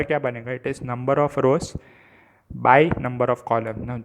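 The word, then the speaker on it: ×: greatest number of rows by number of column now this symbol is not multiplication sign it is pronounced as by the yellow matrix behaves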